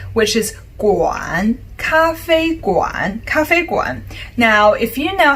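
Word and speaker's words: 咖啡: coffee super easy right it's just a similar pronunciation i'll say it again cafe cafe coffee easy peasy if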